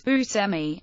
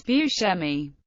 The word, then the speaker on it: Buscemi: Bushi pronounces his name as Busmi, but the Italian pronunciation is Buchi. He once said about the pronunciation of his name. I had to go to Sicily to find out I pronounce my name wrong.